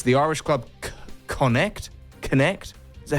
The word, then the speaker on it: Connacht: It's the Irish club Connacht. Is that how you pronounce it, Martin? Do you know? Connacht.